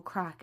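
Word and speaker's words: craic: So, and in in Ireland, I should explain, crack is fun. Joy. That That's what we mean when we say crack. It's spelled c r a i c. That's how we spell it here.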